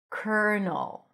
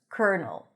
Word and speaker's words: colonel: Colonel. Colonel. Or in the movies they say lieutenant colonel. Colonel. So here instead of the L, you pronounce an R.